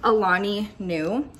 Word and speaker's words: Alani Nu: My favorite brand of all time is Alani Nu. Everybody is always like confused as to how to pronounce this name. It's just Alani, like the name Nu.